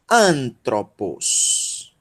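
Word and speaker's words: ἄνθρωπος: e um assento tá aspiração Branda não altera a pronúncia desse Alpha Então nós vamos lá como a e yunie é pronunciado como n tá então ano ok Essa é a sílaba tônica aí nós temos um teto um roi um Ômega e vai ser pronunciado como é um troll o antro E aí nós temos um pin um o micro e um Sigma o bolso pôs um Oi vó o anthropos anthropos tu conhece essa palavra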